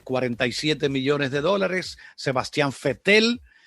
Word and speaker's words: Vettel: millones de dólares sebastian vettel se escribe con be corta pero usted saben que es alemán y la ve corta suena como efe sebastián fuerte el de